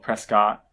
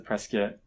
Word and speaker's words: Prescott: Arizona called Preston spoke Prescott but everyone else has a press kit as in like rhyme with biscuit and everyone knows who